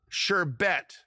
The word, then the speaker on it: sherbet: s h h e r b e t sherbet technically an Americanization of sorbet we get it